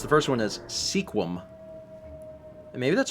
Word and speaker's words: Sequim: the last I don't I want to pronounce it Sequim so it's probably like sekim or something it's one syllable get out get out